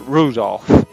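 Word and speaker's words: 留弗夫: tell you that thanks that mess of characters is pronounced rudolph haha he must hate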